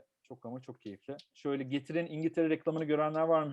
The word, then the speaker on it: Getir: It's just two syllables, Getir, and the CEO was saying, we will teach the world this word, Getir.